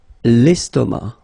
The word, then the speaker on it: estomac: L'estomac, okay, same thing here, final C not pronounced, and then M means that this word, estomac, is masculine, okay?